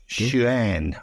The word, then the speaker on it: Xuan: And Jerry is a bloke, so look, forgive me, Fred, but I think the Chinese pronounce their X's as sh, so it's Xuan.